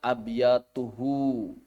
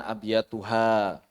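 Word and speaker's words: أبياته: Nah, ini saya sampaikan buat siapa saja yang setoran bacanya abyatuhu. Jangan abyatuha. Walaupun kalau ditakwil bisa aja.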